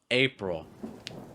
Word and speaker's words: April: April, April.